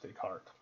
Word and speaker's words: Descartes: So Descartes is how it's spelled, even though it's pronounced Descartes.